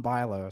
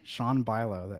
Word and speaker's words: Bialo: You pronounce my name like Bialo, so no one will ever get that right by reading it. They're still like Bialo or something. It's Bialo. The A is silent.